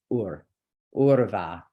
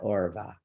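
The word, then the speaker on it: उर्वा: think, okay, so trium and urva, not orva. Okay, so you can listen to that too. There's somebody out there, maybe a kirtan singer or something that is saying orva.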